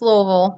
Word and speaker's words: Louisville: But the local legend that we have here, actually in Louisville, or Louisville, whichever one you want to No, pronounce it as. no, it's Louisville.